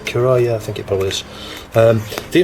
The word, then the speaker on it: Currah: time Khurram micro speech you pronounce it Cariah thank you Paul is